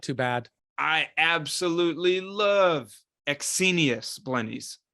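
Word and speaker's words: Ecsenius: bad I absolutely love exenius blennies that was a good pronunciation exsenius okay then my brain is saying it correctly that's good I hate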